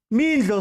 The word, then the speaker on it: Mildo: Mildo, sorry. Mildo, hey. Sorry. Yeah. Mildo. You always get my name wrong.